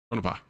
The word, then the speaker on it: Tonopah: Tonopah. That's how you pronounce it.